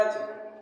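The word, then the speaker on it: edge: ई इसका हो जाएगा एज एज मींस किनारा यहां डी नहीं बोला जाएगा ई जी ई डी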